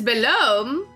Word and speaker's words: Belome: On occasion, you may see someone pronounce it belome, but the proper way is belome. It's not below me? Take care to pronounce that O correctly. I'm happiest when I sleep, you know.